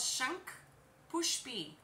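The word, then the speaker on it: Shankhpushpi: So this one is called Shank Push B. Shank Push B. It's spelled ShankPushpi.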